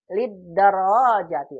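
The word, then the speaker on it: لدراجة: Lihat, perhatikan bacanya gini ya. Lidarajati. Ro-nya yang panjang.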